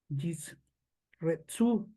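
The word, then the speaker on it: ישרצו: La palabra produzcan en el diccionario Strong H8318 se describe como polular o abundar y en hebreo se pronuncia yisretzu y tiene que ver con abundancia del mundo marino y del mundo de las aves en el cielo.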